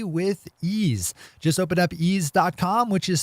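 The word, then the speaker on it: Eaze: pay for when you place an order through ease calm properly tested labeled and packaged top-notch legal cannabis products find out just how easy legal California marijuana delivery can be with ease just open up easy calm which is spelled e a-z e and get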